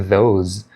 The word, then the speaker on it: those: Nesse caso aqui ele é vozeado, e para pronunciar de forma correta, você tem que colocar a ponta da sua língua nos seus dentes superiores para fazer a pronúncia. Those.